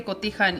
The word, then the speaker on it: cotija: you say quickly turn English you cannot say cotija English right cote cotija cotija it's aged cheese